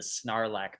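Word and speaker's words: sarlacc: really yeah sarlac it you can call it sarlac as long as there's a silent G in there so it's like narac like snarl that's so Nar so Nar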